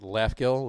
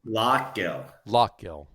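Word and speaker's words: Lough Gill: I always screw up the pronunciation. Is it Laughgill or Laugill? Lockgill.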